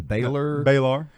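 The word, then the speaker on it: Balar: I don't know the pronunciation. Baylor.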